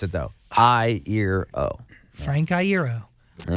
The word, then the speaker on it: Iero: a shirt that has like an eye and ear and an O and I was like